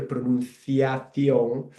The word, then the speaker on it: pronunciación: for my purpose here, pronunciación. You can see there that the C sound when I pronounce it, it sounds a bit like the TH in English, like thunder.